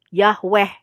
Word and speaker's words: Yahweh: Jadi bisa Yih Yeh, Yoh Yeh, ya, Yih Weh, Yahweh. Ya, itu bisa kemungkinannya ya. Kemudian cara pembacaan yang kedua yang juga sesuai dengan gramatikal Ibrani, itu dibacanya Yod vokal, He vokal, Waw vokal, He. Jadi bisa Yehovah, Yahuwah gitu ya teman-teman ya.